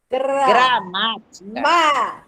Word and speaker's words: gramática: Justamente é a antepenúltima sílaba que está acentuada.